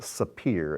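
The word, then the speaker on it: ספיר: It's pronounced sapphire in Hebrew, but this, whoops, I don't know what happened there, but I'll be more careful.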